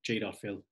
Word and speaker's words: Jadotville: There is a famous battle in the Congo during the 1960s, the Battle of Jadotville, or Jadotville, as the locals would pronounce it.